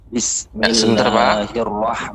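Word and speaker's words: بسم الله الرحمن الرحيم: Pengucapan nir di situ dia langsung ditekan, disambung dengan ro, ya.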